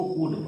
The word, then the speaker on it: would: COULD को कूड पढ़ा जाता है और WOULD को वुड पढ़ा जाता है। आप देखिए कि OU और D के बीच में जहां जहां L है ये साइलेंट हो गया है।